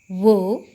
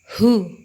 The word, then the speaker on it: who: tulisannya Who gitu ya Jangan dibaca Wow tapi dibaca hu ha hu hu Lia